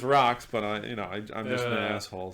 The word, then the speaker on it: Roch: They call it's called Rocks, but it's spelled ROCH.